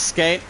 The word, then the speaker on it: skate: It's pronounced as skate, as it's only a 5-letter word.